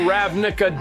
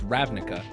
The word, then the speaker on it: Ravnica: I don't like how he said Ravnica. He definitely put the emphasis incorrect. I'm gonna say it right. It's Ravnica. But he definitely said Rav Nicocado Avocado.